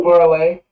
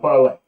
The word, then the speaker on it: Parler: It's pronounced parlay. Which it should be, but because it's America, it's how you say it's Dubois, not Du Bois, but whatever. Okay, so it's Parler. Yes. And it's pronounced parlay.